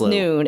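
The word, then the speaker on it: Nuun: I think it's pronounced noon. It's like n u u n never heard of this.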